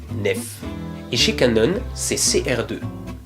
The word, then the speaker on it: NEF: Donc les fichiers Nikon portent l'extension NEF et se prononcent NEF.